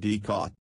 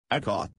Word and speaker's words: Ikat: Someone yelled Ikat, and a few children giggled. Janaki teacher said it is pronounced I as in it, ka as in Kamala, and T as in both. Ikat is an Indonesian term meaning to bind or knot.